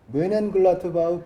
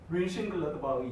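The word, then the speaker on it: Mönchengladbach: 독일식으로 하면은 응. 아예 저 표기법이 달라요. 네. 뮌헨글라드바흐거든요. 원래 아. 이게 그러니까 근데 과거에 우리나라가 이제 독일어 CH를 헤누 발음을 했었어. 그렇게 표기법이 됐기 때문에 멘헨글라드바흐라고 우리나라에서는 표기를 하지만은 실제 독일에서는 뮌헨글라드바흐 이런 식으로.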